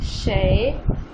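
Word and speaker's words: 谁: Next word है हमारे पास शय, शय SHEI, बेसिकली ये ई नहीं है, चाइनीज में इसको अ की साउंड है, ये अ, तो इसके ऊपर राइजिंग टोन है, ठीक है। तो इसको कैसे प्रोनाउंस करेंगे, शय शय शय, ठीक है, आवाज़ आपकी ऊपर जाएगी, राइज करेगी।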